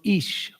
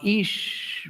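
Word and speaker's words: ईश्: comes from the root ish ish uh or i s with an accent over it uh uh for the technical transliteration and that would be a long i pronounced as e so e law dergah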